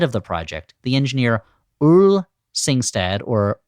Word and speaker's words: Ole Singstad: engineer Ole Singstad or Ole Singstad. We had a lot of discussion before the recording about how to pronounce it. I always thought it was Ole Singstad, like that's good old Singstad over there.